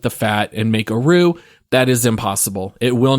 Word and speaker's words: roux: heat and this is called a roux which is spelled r-o-u-x it's a French word I believe but basically when